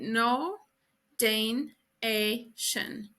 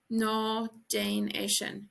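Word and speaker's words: Ná déan é sin: So don't do that in Irish is literally no Dane a shin. No Danation. No Danation. Don't do that. And also this D can be pronounced like a J or a G sound in Ulster and Connacht.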